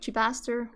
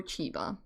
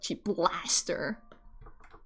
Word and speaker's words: Chibaster: Because it's just like Chibaster or Chiba. And I've had some people who read it wrong as like Chiblaster. It's one of my favorite mispronunciations of my username, and I never correct